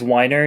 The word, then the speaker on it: Weiner: were John Froines and Lee Weiner or Wiener. I'm not sure how to pronounce either of those last names. It's Weiner. They say it in the movie.